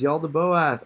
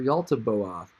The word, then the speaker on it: Yaldabaoth: but the chief is Yaldabaoth, or Yaltabaoth, or Yaltabaoth. Man, spell it in all kinds of funny ways. Yaldabaoth, but that's J, so Yaldabaoth. Anyway, in the Apocryphon of